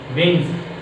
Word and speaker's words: wings: It's a silent letter. And yes, wings, wings, V, W-I-N-G-S, wings.